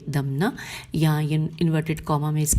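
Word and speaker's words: دمنہ: دمنا ہجے کرتے ہیں، کاف لام یہ لام ہے و دال میم نون ہے دمنا.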